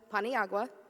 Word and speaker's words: Paniagua: So my name is Paniagua, bread and water in Spanish if you're ever unsure how to say it.